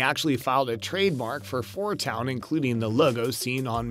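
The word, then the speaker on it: 4*Town: star at the beginning that star never being pronounced meaning they're probably just going to be known as four town in the movie from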